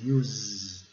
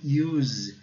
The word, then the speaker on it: use: E o E não é? Ele termina no Z, né? No S com som de Z. Use. It is easy to use.